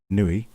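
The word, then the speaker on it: Niue: 2020 brand new coin from nuit is pronounced nuit it is a $2.00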